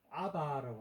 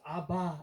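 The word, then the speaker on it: אבא: 그래서 아바 이렇게 부르는 걸 우리는 아빠, 발음이 약간 다를 뿐이지 희한하게.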